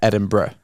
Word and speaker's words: Edinburgh: Edin so it's B Edinburgh so you look it said it's spelled Burough but it's you would say Edinburgh right when I was in when I